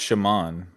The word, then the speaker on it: shaman: It's pronounced shaman.